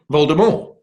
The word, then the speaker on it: Voldemort: Rowling turned up, she referred to the Dark Lord as Voldemort, as in the French pronunciation.